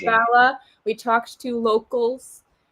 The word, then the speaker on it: Bala: And we clarified it's pronounced Bala. We talked to locals and made sure it's Bala.